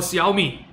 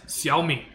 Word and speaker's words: Xiaomi: Or Xiaomi. Right? No, it's Xiaomi. No, it's Xiaomi. In Chinese, it literally says Xiaomi. It's spelled the same way too.